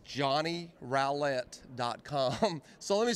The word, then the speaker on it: Johnny Rowlett: And the way that I explain it to people is if you put a G in front of it, it'd be growl.